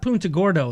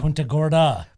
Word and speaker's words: Punta Gorda: to naples that's that's that's not punta gordo that's uh punta gorda but what's the name